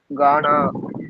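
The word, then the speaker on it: गाना: கா தான் இருக்கு ஆனா ஹிந்தில மொத்தம் நாலு கா இருக்கு அதனால உச்சரிப்பு வித்தியாசம் நான் கூர்மையா கவனிச்சம்னா கவனிச்சம்னாதான் இந்த வித்தியாசங்கள் கத்துக்க முடியுங்க பாடுவது கானா பாடுறான்னு சொல்றதுக்கு காவோடு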